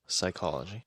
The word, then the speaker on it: psychology: Psychology. Not quite. That's a that's another good one. One that's almost another P word. A silent P word just like psychology.